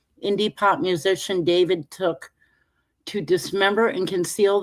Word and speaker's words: D4vd: The brief said that David, pronounced David, 21, whose legal name